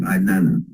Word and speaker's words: Inanna: That's how it's spelled I-N-A-N-N-A, Ainana.